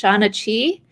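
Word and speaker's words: seanchaí: They call themselves, I believe it's pronounced Shana Chi.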